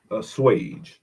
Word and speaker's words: assuage: go a-s-s-u-a-g-e a-s-s-u-a-g-e a-s-s-u-a-g-e let's see how it's pronounced ah ass you a g e swage yeah I wouldn't have got that a swage a Swede make an unpleasant feeling or make